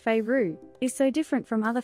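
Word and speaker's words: Feyre: However, Faye, pronounced Feyru, is so different from other fantasy protagonists I have read, because she is so unapologetically human.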